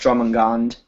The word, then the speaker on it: Jormungand: Jormungand. Wait, M-U-N? Yay! M-U-N? What? M-U-N, you said? Yeah. Then I think it's pronounced Jormungand. Yeah. Or Jormungand, technically.